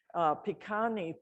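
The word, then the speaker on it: Pikuni: i'm amskapi pikani which means southern most people pikani p-i-k-u-n-i also has a synonymous name which is pronounced pagan but it's spelled in the u.s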